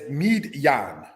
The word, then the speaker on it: Midian: Midian, said as Midyan, means contention.